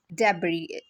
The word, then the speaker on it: debris: it as almond okay debris is pronounced with is a silent so these are some